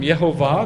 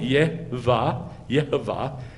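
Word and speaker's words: יהוה: Here is the sign for you from Yeh-ho-vah, that Yeh-ho-vah will do what he said. Do you want the shadow to go 10 steps? Isaiah 30, hoi, rebellious children, says Yeh-ho-vah.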